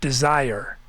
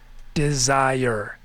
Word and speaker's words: desire: Destruction, and the way I say it, desire. Desire, which some people say desire. Does anyone say desire with 2 syllables?